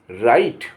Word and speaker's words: right: जैसे RIGHT, तो यहाँ GH जो है साइलेंट हो जाएगा। यहाँ RIGHT मीन्स राइट, अन्यथा जी गा होता, जैसे GHOST, गोष्ट, भूत, आत्मा।